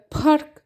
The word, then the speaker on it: park: إنما البي التقيلة اللي هي زي بارك بننطقها كده، بنطلع شوية هوا كده من قدام. بارك بارك بارك بلو بلو.